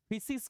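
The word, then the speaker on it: φύσις: उस वर्ड को फिसिस कहते थे। फिसिस बहुत लोग इसका प्रोनाउंसिएशन जो है वो फिसिस ना करके फुसिस करते हैं। फुसिस फिशि या फुसिस।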